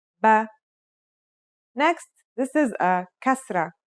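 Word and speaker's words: بَ: First, here's the fatha. The pronunciation will now be ba.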